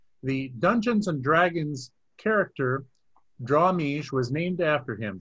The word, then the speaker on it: Drawmij: and Dragons game The Dungeons and Dragons character draw me was named after him draam me is simply Jim Ward spelled backwards am I pronouncing your name backwards correctly Jim I don't